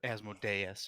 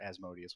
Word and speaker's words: Asmodeus: reading on as mode as modeis or Asmodeus whatever it says both ways both pronunciations are acceptable by the way in that so